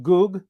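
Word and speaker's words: גוג: make this up so the word gog it's actually pronounced goog and megoog all right so the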